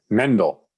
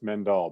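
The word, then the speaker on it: Mandel: my apology no no everybody pronounces it the way it looks men doll but it's mendel yeah uh well so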